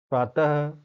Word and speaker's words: प्रातः: जैसे अतः, प्रातः, प्रायः, पुनः। मैं बोल रहा हूँ तो लास्ट में क्या उच्चारण हो रहा है, ह का, ये क्या है, विसर्ग है।